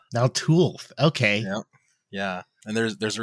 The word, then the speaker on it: Naltulth: The way to say it is Naltulth. Naltulth.